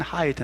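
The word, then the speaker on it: Hyde: 된 그 인물이 누구냐 하면 하이 되요 숨기기 발음은 하이드 인데 hy 티가 이름인데 발음은 하이드 해 hike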